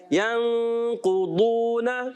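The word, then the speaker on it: ينقضون: ایسا محسوس ہوگا آپ کو کہ دال تھوڑا موٹا کر کے پڑھا گیا ہے. دال جو ہے موٹا کیا گیا مگر تلفظ دال سے ہٹ کر ہے. دال کا تلفظ کیا ہے؟ زبان کا سرا اور اوپر کے دانتوں کی جڑوں سے دال ادا ہوتا ہے اور ضاد ادا ہوتا ہے زبان کا بغلی کنارہ یعنی زبان کی کروٹ اور اوپر کی داڑوں کی جڑوں سے.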